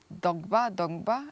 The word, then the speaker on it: Dongba: Let's talk right now about Dongba.